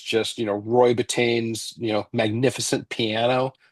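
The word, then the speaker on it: Bittan: just you know Roy Betain's you know magnificent piano Roy Bittton probably I should say it correctly.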